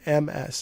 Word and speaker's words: Ms.: And she said MS is Ms. You have the Z sound. But I still kind of call it Miss Pac-Man without the Z sound.